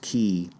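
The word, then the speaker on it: Elbow Cay: The island is Elbow Key, pronounced Key.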